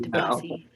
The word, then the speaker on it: Debussy: That's how you pronounce that? Yeah. It's not Debussy. No, it's not Debussy. Debussy.